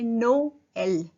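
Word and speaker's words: Noël: अब ट्रेमा ई पे लगा है तो इसको कैसे प्रोनाउंस करेंगे? नो एल, नोएल।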